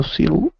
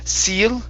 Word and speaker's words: sill: window sill um window seill there we go okay so instead of seal okay give me short eyes window window sill